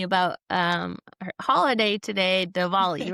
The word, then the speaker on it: Diwali: Ricky was just telling me about um her holiday today, Dvali, right? Did I say it right? Happy Dvali. Happy Diwali.